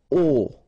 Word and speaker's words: aux: Okay, so you can see that here you combine a plus les and you will get this aux, okay, and then phonetically you produce it or you pronounce it o.